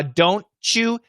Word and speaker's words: don't you: so combinations definitely sh uh don't you should be a ch but some americans might make it an sh and meet you two